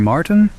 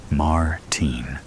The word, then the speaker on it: Martin: Martin?" He pronounces Martin in the American way, rather than the way I prefer it. Martine.